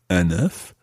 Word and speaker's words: un œuf: So if you are looking for an egg, it's un œuf, and you pronounce the F at the end.